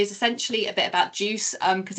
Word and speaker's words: GUCE: We are Juice. We're not Gucci. We are not that posh. So it's like orange juice. Everyone says soft G and soft C.